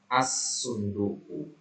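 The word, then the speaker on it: اَلصُّنْدُوقُ: yang pertama Antum katakan asunduk jadi Hamzah alifnya langsung ketemu ke Shad ya asunduqu ya Bunyi l-nya tidak ada ini tidak dibaca ya Ini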